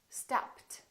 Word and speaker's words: stopped: Listen to this one: stopped, stopped. What happened to the ED? It became a T, stopped. Listen to this.